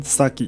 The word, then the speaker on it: サギ: 鹿在日文中发音 sagi，与诈欺相同，因此戏